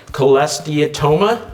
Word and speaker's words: cholesteatoma: mentioned before the and let's see if i pronounce this right cholesteatoma yeah yeah in in your ear which is